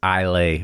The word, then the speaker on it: Islay: and and it's just it's ilay or e or whatever it is but that's a it's a silent s in there so apologies to to